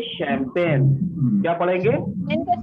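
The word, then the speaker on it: champagne: लिखा है चंपगने, लेकिन पढ़ेंगे पढ़ा नहीं ना नहीं सर। जाएगा। पढ़ेंगे इसे शैंपेन।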